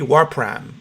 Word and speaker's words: Wapram: the show we're talking to early guitarist Terry Warren am i pronouncing your last name correct yeah that's right